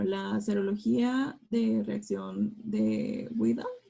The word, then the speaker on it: Widal: Bueno, la serología de reacción de Widal, no sé cómo se pronuncia bien. Vidal. ¿Vidal? Bueno, Sí, Vidal.